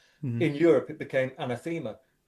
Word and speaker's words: Anathema: On the Crackoff DVD, uh, you pronounce Anathema as anthemma. Did you do that as a joke?